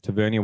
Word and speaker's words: Tavernier: to say his name Tavernier okay so on this pod we'll do miles pronunciation tavernia with a beautiful volley